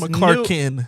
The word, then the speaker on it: McClurkin: Some people, I said Donnie McClurkin, an ex-gay, has It's McClurkin. Oh, is that how you say it? You put two L. It's Clarkin. How do I say it? Donnie McClurkin.